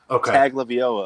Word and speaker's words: Tagovailoa: I believe it's I don't know how to pronounce it. Let me consult our expert. Okay. Tua Tagovailoa. Oh, Tagovailoa. I'm hearing it's Tagovailoa.